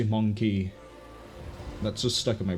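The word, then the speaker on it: Mon'keigh: The Monkey. I don't like the way they changed the pronunciation in recent Warhammer to Monkai as opposed to Monkey.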